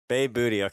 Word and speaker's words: Behboodi: gonna let you do that how do you pronounce it booty welcome to the underground Society how are you